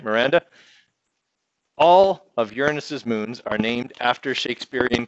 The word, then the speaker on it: Uranus: and that is from the center of Uranus Uranus is by the way how you pronounce it it is not Uranus because I know that's how lots of people